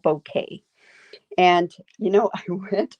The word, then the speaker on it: bokeh: is b-o-k-e-h and like i say it's called bouquet and you know i went on i had